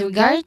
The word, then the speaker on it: regard: Regard, focusing on the emphasizing the second syllable regard. So there's a stress syllable here, guard, and then to.